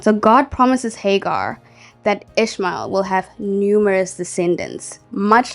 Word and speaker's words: Ishmael: will have a son you will name him ishma ishma sorry for the mispronunciation you will name him Ishmael for the Lord has heard your cry of